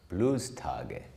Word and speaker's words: Bluestage: Bluestage. It's okay, that's the German pronunciation.